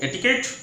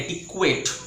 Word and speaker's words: etiquette: नहीं don't you know etiquette so it's not etiquette it's etiquette okay friends say it after